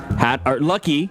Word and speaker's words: Lucky: So Lucky's Lucky. There's no S in Lucky's, which I fucking learned. I've been mispronouncing that shit for like 40 years. Dude, there's no S. There's no fucking S.